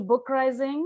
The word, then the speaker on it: BookRising: Hello and welcome to BookRising, which rhymes with uprising.